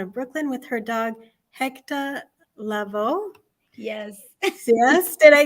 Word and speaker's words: Hector: and I wanted to make sure everybody said it like we would say it at home, which is Hector. So it's spelled HECTAH.